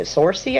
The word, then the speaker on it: Saoirse: Sorcy, I think is how you say her name.